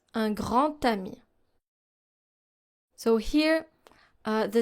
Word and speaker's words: un grand ami: In un grand ami, here, since we don't have the D sound, in liaison, we use the T sound. Un grand ami.